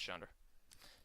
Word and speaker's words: Chandra: Like Nissa, the one that I got, and then Chandra? I think that's how you say her name. Is that her name? Yeah, it's Chandra.